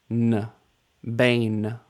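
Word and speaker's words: בן: try this one on your own first B Bane that means son as in the son of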